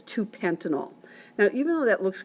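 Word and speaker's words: pentan-2-ol: dash two dash oil but we'd still pronounce that as two Penton all now even though that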